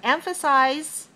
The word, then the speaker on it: emphasize: at me emphasis emphasis it has the same syllable stress code three one but cis and size are different so emphasis is the